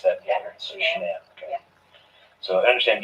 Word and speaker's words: Shanann: Are pretty good friends with, is it Shannon or Shanann? Shanann, you pronounce it like shenanigans.